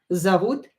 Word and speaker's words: зовут: Or the synonym is меня зовут Настя. Меня зовут and your name. My name is Nastya. Меня зовут Nastya. As I told you before, when O is not stressed, pronounce it as A.